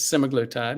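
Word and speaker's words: semaglutide: the park is uh I call it semaglatide it's the proper pronunciation is semoglotide and you find it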